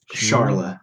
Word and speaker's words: Charla: I forget, I say her name wrong again. What's it, Kelly? Charla. Charla, that's what it is.